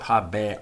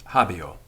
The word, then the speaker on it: habeo: its environment so it's not habe or it's habio habio and in fact in some